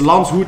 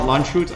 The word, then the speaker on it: Landshut: It's Landshut, not Landshut. I know.